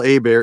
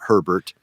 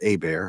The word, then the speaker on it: Hebert: the way folks Kyle a bear is the actual pronunciation not Herbert h-e-b ERT is pronounced a bear I'm from Louisiana so it's a French thing what I tend to